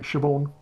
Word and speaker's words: Siobhan: And Siobhan, did I pronounce that right? Siobhan? Yeah, you did, yeah. Or Sibian?